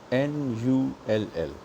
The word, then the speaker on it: null: 0 is N-U-L-L. You see, you should know how to spell it.